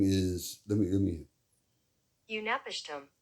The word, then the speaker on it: Utnapishtim: His name is let me Unapishtim. Unapiston.